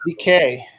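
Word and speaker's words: Dike: Like tooth decay.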